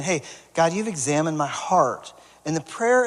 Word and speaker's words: Examen: It's spelled a little bit different than we, but but it's basically where David is saying, "Hey, God, you've examined my heart."